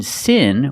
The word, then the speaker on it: sin: In sin, we use the short I sound. It's more open. I. Like this is. I.